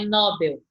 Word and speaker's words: Nobel: Ele está dizendo que é oxítona, então é Nobel.